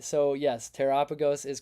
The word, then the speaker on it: Terrapagos: All right, so yes, Terrapagos is correct.